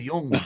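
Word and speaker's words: jong: It's pronounced Jung.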